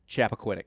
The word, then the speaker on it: Chappaquiddick: Chappaquiddick.